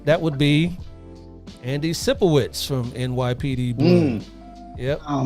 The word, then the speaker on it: Sipowicz: And last name rhymes with Sicko Tricks. That would be Andy Sipowicz from NYPD Blue.